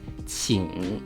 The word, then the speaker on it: 请: Below, the first character on the left is pronounced 请 with 第三声, which means to invite.